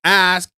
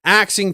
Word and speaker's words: ask: I'm not even educated and I'm I don't ask. I ask. That's way it's spelled. That's the way it's it's said. Ask. We're not axing people.